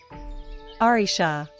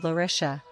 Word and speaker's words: Larisha: Arisha, we now call it that out of convenience, but it was supposed to be called Larisha. Larisha? It's difficult to pronounce, so we naturally called it Arisha, as our warlike